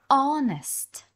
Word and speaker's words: honest: ці вправи регулярно постійно hest hest перекладаємо як чесний перша буква H ніяк тут не читається зверніть на це увагу you should Be honest Вам варто бути чесним